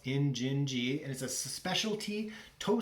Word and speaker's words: Injinji: i N I and J I and it's pronounced in gingy and is a specialty toe sock company based